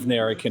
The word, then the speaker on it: Nerikan: The Scion of Nerikan is how you pronounce the book. Okay, so the scion of Nerikan.